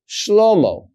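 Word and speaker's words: שלמה: Well, this final letter Hey tells me, the reader, that I'm supposed to pronounce a vowel here. And the way that I know how to pronounce the vowel is by knowing the word. But I'm not going to misread the word because there's a Hey here. So what is this word? This word is Shlomo.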